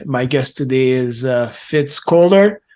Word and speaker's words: Fitz Koehler: guest today is uh fitzcler I hope I'm pronouncing your name right you are you are thanks so uh she's uh